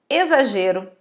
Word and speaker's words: exagero: É o caso de exagero, exato e exemplo. São 3 palavras que são escritas com X, mas são faladas, pronunciadas com o som de Z.